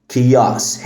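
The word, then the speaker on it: chaos: كمان كلمه كياس فوضى كياس هنا الاتش سايلنت والسي بتتنطق كي فبنقول كياس كياس كياس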